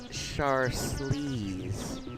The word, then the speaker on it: Charlize: Actually, it's pronounced Charlize. It's French. Isn't it a beautiful name?